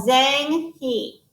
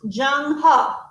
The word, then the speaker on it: Zheng He: Admiral Zhang He. Born in 1371, Zhang He, and this tells us how it's pronounced. Pronounced Zheng He.